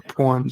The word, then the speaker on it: porn: P-O-R-N. Porn. Like porridge.